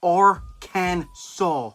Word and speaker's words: Arkansas: you're going to jail they got the right way to pronounce it right here or can saul oh so i said